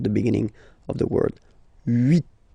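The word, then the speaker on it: huit: Okay, then here final T is pronounced, so 8, 8.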